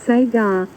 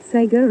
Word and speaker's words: Sega: Mystic said the change in Sega is correct way according to the Japanese. Yeah. Yeah, they do say it that way. It's just the way their phonetic alphabet works. But it goes against everything I know. Sega Sega Sega Master System Sega Master. It just doesn't sound right. Doesn't roll off the tongue the way it should.